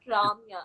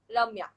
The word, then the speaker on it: Ramya: So basically, North Indians pronounce my name as Ramya. It's not Ramya. It's Ramya.